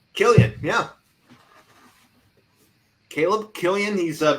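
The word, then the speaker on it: Kilian: Killian, yeah.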